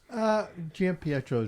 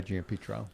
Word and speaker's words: Giampietro: Giampietro is really proper, but we go by Giampietro.